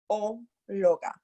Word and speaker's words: arqueóloga: Q-U-E. La U is silent. Remember, arque. Arqueóloga.